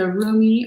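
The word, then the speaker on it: Rumi: so this is um the roomie or remy depending on how you pronounce it oracle deck by elena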